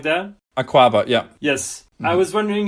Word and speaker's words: Akwaaba: for migrants in London called, I'm going to butcher the name, but it's Akwaaba, something like that. Akwaaba, yeah.